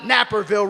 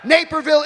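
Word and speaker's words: Naperville: Am I pronouncing that right? It's not Napperville, right? All right. Neapville, Illinois.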